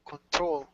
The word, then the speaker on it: control: we have control so the emphasis is on the second syllable control control yeah that's better and the last one